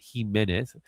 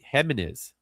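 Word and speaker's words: Jiménez: That's how you say it, Jimenez. A lot of people say Jimenez.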